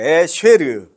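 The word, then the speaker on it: אשר: 에쉐르. 발음 괜찮죠? 예, 쉐보레 할 때 쉐입니다. 에쉐르. 이건 이제 하나님과의 관계에서 누리는 영적인 복을 말합니다.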